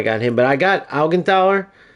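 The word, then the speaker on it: Augenthaler: I can't believe every other Beckhambower is a buildup center back, but now I got him, but I got Algenthaler. Algen Taler, I should say.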